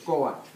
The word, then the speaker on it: Coatl: You say Coat. Coat. All the Aztec words, they all have the accent in the second to the last syllable.